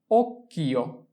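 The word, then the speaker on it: occhio: এরপরে হচ্ছে ওকিও, ওকিও, ওকিও। ওচি ওক, চি আক্কা ইও, কিও, ওকিও, ওকিও অর্থ চোখ।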